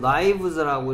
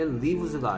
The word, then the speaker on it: lives: 오케이, 그 다음에 얘는 라이브즈라고 읽어야 되는데요. 얘는 발음이 뭐다? 라이브즈라고 읽어야 되는데, 라이브즈라고 라이브즈라고 발음해야 하는 이유를 좀 해보세요. 좋습니다. He enjoys using his special talent to improve the lives of others. 얘 lives가 아니죠, 그렇죠? lives라고 하면 안 돼요.